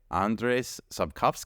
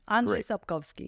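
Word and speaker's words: Andrzej Sapkowski: novels uh written by andrees sovi am I saying that technically phonetically doing fine Andre kovski yes there you go I love that authenticity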